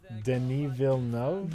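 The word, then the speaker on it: Villeneuve: anous says Dennis villu pronunciation guide Dil nov denil no denil no okay I assumed I assumed French oh how I have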